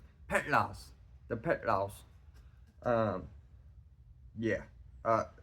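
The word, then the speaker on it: Petlas: Wheels uh yeah uh pelas they or sorry pronounce that wrong petl the petl um yeah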